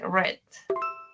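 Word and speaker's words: read: Se escribe igual, se pronuncia diferente. Dice red.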